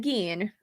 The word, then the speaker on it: Gein: out my video on ed geen or ed gein if you will is actually how you pronounce his last name yep jacqueline cosmetics i'm